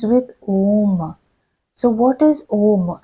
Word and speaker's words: Om: So what is Om? Actually, it is pronounced in ancient times, it was pronounced as Aum. Each of the syllables were pronounced, and it is said